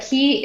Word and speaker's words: Ki: But key is spelled Ki, which in Japanese, right? Japanese is the energy, like the chi.